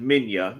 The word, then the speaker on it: Minya: publicity, books, and movies, all spell his name out as Manila. I never understood that when they never called him that. It's weird spelling of pronunciation, Minya.